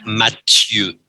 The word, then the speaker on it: Mathieu: Oui, mais Mathieu est un prénom anglais. Et ici, il est français. Et en français, c'est Mathieu.